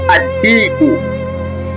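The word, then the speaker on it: الديك: Herufi ya tatu ni dal. Tunatamka adiku.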